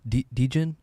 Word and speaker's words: Degen: Dejen. Yeah. Like degener degenerate.